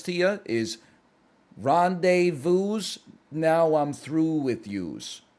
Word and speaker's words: rendezvous: I don't think you pronounce the S in rendezvous.